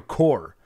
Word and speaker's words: Corps: there's a Green Lantern Corps or Co RPS corpse hmm green how you pronounce that Daniel I think just Corp Corp Green Lantern Corp